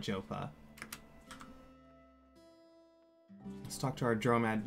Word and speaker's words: Joppa: One of the devs calls it Jopa, so I'm trying to call it Jopa.